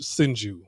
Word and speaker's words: Hsinchu: It's pronounced Hsinchu. When I first went there, I pronounced it Sh- Sinchu. And they was like, "No, it's it's pronounced Sinchu." I'm like, "Oh, okay. So I pronounced it wrong."